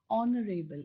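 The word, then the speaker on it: honourable: ঠিক তেনেকে তাৰ পিছৰটো চোৱা, এন অনাৰেবল পাৰ্চন, অনাৰেবল, এইচেৰে আৰম্ভ হৈছে যদিও শব্দটো, এইচটো কিন্তু সাইলেন্ট, গতিকে অৰে আৰম্ভ হৈছে উচ্চাৰণটো, গতিকে তাৰ আগত এন হ'ব, এন অনাৰেবল।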